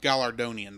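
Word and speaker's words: Galardonian: It is Gallardonian, by the way.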